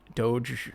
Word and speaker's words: Doge: kind of going with the flow that the dog money was sort of a response to the crypto mania can you please pronounce that correctly doge money oh oh dog money my little niece